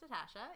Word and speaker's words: Natasja: Natasha, pronounced Natasha, and...